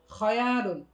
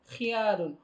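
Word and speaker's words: خيال: সঠিক নয় শব্দটি হচ্ছে খায়ালুন এই শব্দটির ক্ষেত্রে অধিকাংশ মানুষই বলে খিয়ালুন অথচ এই উচ্চারণটা সঠিক না সঠিক উচ্চারণটা হচ্ছে খায়ালুন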